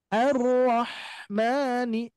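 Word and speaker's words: الرَّحْمٰنِ: banget arro arahmani arahmani huruf ha ya di sini tenggorokan bagian tengah arrahmani Hames dan juga rak ya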